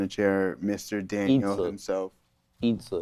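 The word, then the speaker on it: 椅子: Itza is how you say chair in Mandarin, Joey.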